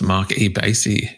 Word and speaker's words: Marc E. Bassy: Please welcome to This Song is Yours, Mark E. Basy.